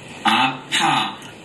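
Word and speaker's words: 아빠: Appa. Appa. Did they mispronounce right after? Yes. So, oppa, appa. Appa, ow. It's like, ow, appa, I'm in pain.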